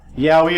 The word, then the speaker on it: Yaoi: Yaoi and Yuri. Yaoi and Yuri terms for anime manga with homosexual love stories. Yaoi, pronounced yaoi, is for males and is also known as BL or boys love.